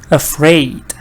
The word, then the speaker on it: afraid: example yeah so here we have schwa at the beginning of these words afraid so I don't say ah I see a but I don't say yeah I say uh what is sure afraid